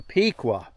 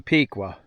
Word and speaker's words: Pequea: But this is a tedar here and it's a piqua. Some people might pronounce that a little different, but I call it a piqua.